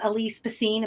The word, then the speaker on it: Alyse Bacine: So my guest is Alise Bassine. Am I pronouncing that correctly?